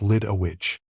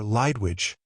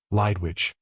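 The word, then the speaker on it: Lidewij: Until then, I'd pronounced his assistant's name like Lid a Widge. We could hear everything through the door. "Are they here, Peter?" a woman asked. "There are, Lydwidge.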